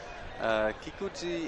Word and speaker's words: Kikuchi: Kikuchi is actually you write it as a chi, but you pronounce it a little bit softer.